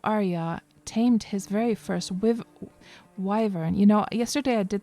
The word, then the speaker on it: wyvern: kept calling the wyverns, I kept calling them wyverns. I didn't know how to pronounce it, and then only after that I looked on online, like, to listen to how you're supposed to pronounce them. It was wyvern all along.